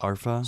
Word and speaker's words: Arpha: unboxing of the two alpha dash cams and I believe it's actually pronounced arpa so please forgive that